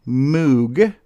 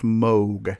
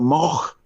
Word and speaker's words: Moog: is seldom known, but it looks like it's pronounced Moog because there's two O's there, but it's actually pronounced Moog, correct? Yeah, that's right. As in Mogue. That's how. Yeah. Moog, like actually, rogue. Should there be a lot on that? The actual real pronunciation of it is something like Moch.